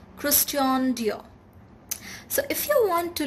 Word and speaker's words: Christian Dior: christian dior christian dior it's not christian dior it's christian dior so if you want